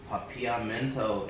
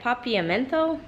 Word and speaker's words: Papiamento: it's dutch pop Heat papillomento in English yeah papiamento yeah see guys I'm really trying with my pronunciation so I did ask the driver and he said papiamento something like that um so they speak